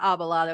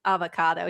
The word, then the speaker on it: avocado: And then the hairstylist had to go like, it's not abalado, it's avocado.